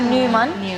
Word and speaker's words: Nyman: ¿Niemann se pronuncia así? Sí, está bien, no te preocupes. Es que es un apellido sueco, entonces en realidad se pronuncia Neumann, pero está genial.